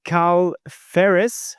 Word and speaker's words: Carl Fehres: Hello, uh, KL Ferris. That's how I I pronounce it correctly. Yeah, perfect. Just like the wheel.